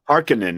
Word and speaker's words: Harkonnen: And Herbert pronounced it. Harkonnen is how Herbert wanted to pronounce it.